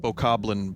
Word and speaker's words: Bokoblin: I believe it's pronounced Bokoblin, but I'll accept Boblin.